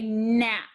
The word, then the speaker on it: gnats: a type of fly what do you think they are gnats when you see this picture card say nat the ghost letter is g we do not pronounce it and lastly